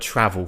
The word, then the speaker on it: travel: So, take a look at the word travel first, because you might have heard me then. I pronounce the R there. Travel, right? I pronounce the R. Why? Because there is a vowel sound after it.